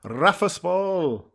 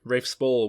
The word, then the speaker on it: Rafe Spall: definite one plays proper characters in both films rafa spall uh raphael spall yeah rafe spall was noel and sean for dead and he